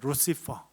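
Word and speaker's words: Lucifer: 그래서 루시페르는 이제 이탈리아식 발음이고 이제 영어식 발음 루시퍼가 됩니다. 루시퍼.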